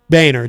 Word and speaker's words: Boehner: ding ding banner boner boehner john boehner well it's spelled boner yeah he was orange